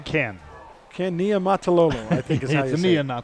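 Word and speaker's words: Niumatalolo: to say it mike you want to try can can nia mataloma yeah you're right very good i'm impressed but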